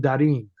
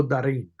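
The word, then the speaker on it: Darín: if you're into I I believe he pronounces his name Darin Ricardo Darin um and I I just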